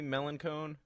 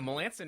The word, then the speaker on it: Melancon: Cubs and whatnot melanson they asked people to change how people pronounce his last name right was it was he melon cone I don't know if it was but I've always called him away they know melanson is the correct pronunciation but I could have sworn that like three years ago people were calling a mark melon code Melancon no longer Dale